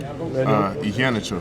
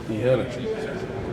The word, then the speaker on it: Iheanacho: What's the official pronunciation? Iheanacho. Iheanacho. We've all been saying Iheanacho wrong.